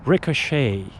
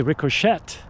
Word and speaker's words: ricochet: So it's ricochet. Okay? If you will say ricochet, uh you'll get a solid F.